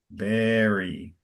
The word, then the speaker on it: bury: Bury. Okay, English is funny. It sounds like berry, like Berry, like the fruit, but it's spelled bury, but it's pronounced like berry.